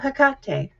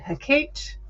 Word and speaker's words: Hekate: And today we're going to talk about Hakate. Some people say it hat, which I just don't uh but hakate.